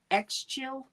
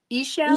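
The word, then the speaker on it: Ixchel: you, Rain, is, and I may mispronounce this, it's Exchil. Exchil. I'm not familiar with her, but it says, I embrace change and reflect inner beauty. Ishel. Oh, Ishel? Ishel. That's how I've seen the phonetics pronounced.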